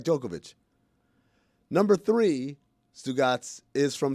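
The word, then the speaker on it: Djokovic: two is Novak jokovic even though it ends with the sea we'd say Novak jokovic number three sugat is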